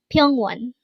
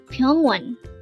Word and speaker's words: 병원: here at dangle we're going to learn about pong onean let's start learn Korean one word at a time only here at the hangle word number 367 pong one pong one this is pronounced as a two